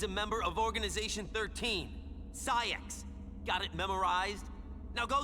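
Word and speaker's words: Saïx: Sak. Got it memorized? Now go save her. The pronunciation is Saiak.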